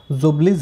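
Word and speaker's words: Ljubljana: लाल लगा हुआ है इंग्लिश में पढ़ते तो यह साइलेंट हो जाता है तो उसको क्या बोलते हैं jubileej है कौन सी है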